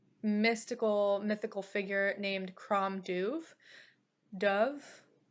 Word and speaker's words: Dubh: Dove, Dubh. Dove, I think is how you would pronounce it. I'm not sure.